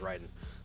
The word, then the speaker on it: Raiden: uh Shinto God yes but in actual Shinto it's pronounced Ryden is this gentle won